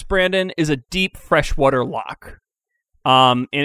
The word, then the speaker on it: loch: with an o yeah well walk in gaelic is spelled l-o-c-h like yeah or well phonetically like so lock and lake they're they're they're saying lake but with a scottish accent is what we're getting